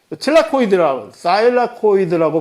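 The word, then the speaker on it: thylakoid: 사일라코이드라고 발음을 하는 이 틸라코이드는 엽록체의 마치 미토콘드리아의 내막에 해당하는 부위가 사일라코이드라고 하는 겁니다.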